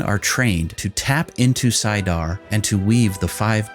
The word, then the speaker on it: saidar: female half of the true source is called saidar which is sometimes pronounced as sadar only women can access and use saidar the